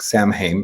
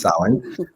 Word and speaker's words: Samhain: which looks to some of you maybe like Samhain, but it's pronounced Samhain.